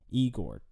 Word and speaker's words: IGOR: Pronounced Igor. 3 E's.